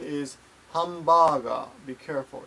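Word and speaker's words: ハンバーガー: point here PTD ask about hamburgers and japanese pronunciation is hum baga be careful it's hum baga I guess handbag all right I'm sorry it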